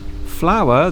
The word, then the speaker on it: flour: The only real difference is the spelling. Flower in the garden, Flower. Flour that you bake with, Flour.